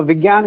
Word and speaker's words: विज्ञान: हिंदी में विज्ञान कहा जाता है, जिसको विज्ञान पढ़ते हैं अगर सही प्रोनाउंस विज्ञान।